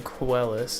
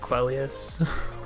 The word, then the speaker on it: Quellus: But the most common mispronunciation is Quellius. And I'm like, there is no I there.